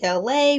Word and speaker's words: Elay: It's me, LA, pronounced like LA like the city.